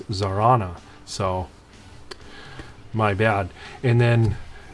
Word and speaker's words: Zarana: to address the uh zarana and uh zar zartana i know that i was mispronouncing it i am it's my excuse that